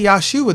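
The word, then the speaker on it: ישוע: Now, if you want to say Yahshua, there's nothing wrong with that, because that is the Hebrew pronunciation of that word.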